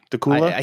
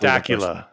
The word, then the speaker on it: Dacula: B from daula Georgia did we say that wrong dula he told us how to I think it's dula now that you say it like that because I can see how he wrote it out it's definitely not Dacula it's definitely not but